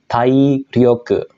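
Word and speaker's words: 体力: chikara kekuatan ya minasang dia akan dibaca dengan cara baca ongyomi yaitu tai rioke nah dilihat dari kanjinya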